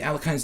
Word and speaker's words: Alekhine: I know that it's Alekhin in Russian, but I just say Alekhine because it's just easier to say that. It's a struggle to pronounce things correctly in their native languages sometimes.